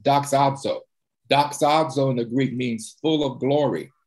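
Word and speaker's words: δοξάζω: And the word in the Greek is pronounced doxazo.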